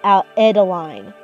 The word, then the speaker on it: Adeline: It's exactly how it sounds. Adeline. Like Ed-a-line. It rhymes with Madeline, but here she is completed.